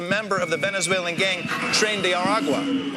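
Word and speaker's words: Tren de Aragua: ICE has been rounding up any immigrant who they suspect is a member of the Venezuelan gang trend aragua or as Trump pronounces it trendy arua sor.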